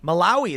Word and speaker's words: Malawi: Malawi? How do you say that? Malawi. There you go. See, I couldn't even pronounce that one.